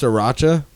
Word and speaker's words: sriracha: Is it pronounced sriracha? yes. Because it's I- there's a R like after the S. Like Yeah. I thought it was sriracha.